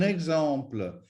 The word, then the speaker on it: exemple: And finally, you've got E followed by an X. Well, guess what? This again has the change in the pronunciation, just like an accent grave. So un exemple is un exemple, exemple, exemple, exemplaire, exactement,